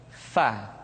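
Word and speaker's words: ف: Diucapkan dengan menyentuhkan ujung dua gigi seri kita bagian atas dengan bibir bawah bagian dalam. Fa. Seperti kita mengucapkan huruf F di dalam huruf Latin.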